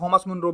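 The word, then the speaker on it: Thomas Munro: टॉमस मुनरो लिखा है इसमें, कुछ लोग थॉमस मुनरो भी बोलते हैं इसको, क्योंकि अंतर आ जाता है इंग्लिश का थोड़ा प्रोनाउंसिएशन से हिंदी में बदलने में।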